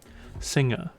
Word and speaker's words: Singa: or if your Malave singer because apparently don't pronounce the uh the G hard this is a pretty